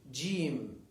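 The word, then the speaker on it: جيم: letter look at this this is called jim this is the name of the letter it's called jim it is pronounced j j j j there is another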